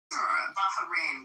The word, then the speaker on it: Bahrain: Bahrain, by the way, is how you say it, but they're absolutely our allies.